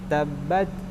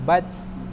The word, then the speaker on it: تبت: Kemudian ketika mensukunkan huruf ta, tabat, bat, bukan bats.